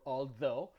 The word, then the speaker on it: although: And when I mean without a sound, I mean you don't pronounce it. Like in the word though, like when you say even though or although, or when you're talking about a part of